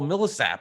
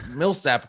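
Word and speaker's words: Millsap: where it's you know 107 year old paul millesapp who can't milsapp can't play anymore so i could say it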